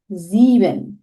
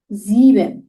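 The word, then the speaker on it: sieben: জিরোকে নুল, ওয়ান আইন্স, টু সোয়াই, three দ্রাই, four ফিয়া, five ফুনফ, সিক্স জেক্স, সেভেন জিভেন, eight আট, nine নয়ন, টেন সেন, 11 এলফ, 12 সোলফ। তাহলে আমাদের উচ্চারণগুলো অনেক ভিন্ন হচ্ছে।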